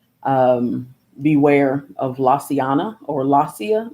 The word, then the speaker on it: Lasea: beware of laciana or la cia la cia is is how you pronounce her name la cia 75 the